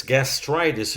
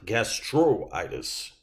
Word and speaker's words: gastritis: i is a vowel it's gastritis and that's not gastroitis okay this is a